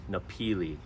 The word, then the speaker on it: Napili: pronounced Kahana and after that there's napili it's pronounced nepili and this further south you'll get is Kapalua